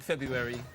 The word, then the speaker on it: February: All right, last question for January and February. I don't like February. You don't like February? No, because no one really knows how to say it. Do you say the R or not?